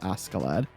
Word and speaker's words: Askeladd: Like, if you were actually like, that is the actual Scandinavian way of pronouncing that name, which that's kind of, it's always interesting to learn that stuff.